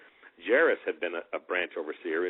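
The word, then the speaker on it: Jaracz: And Ted Jarris, that's the way that name is pronounced. Okay, Jarris. Jarris had been a branch overseer in Australia.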